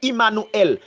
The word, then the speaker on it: Immanuel: Emmanuel, alors moun yo prononce l'Emmanuel, mais en hébreu c'est Immanuel.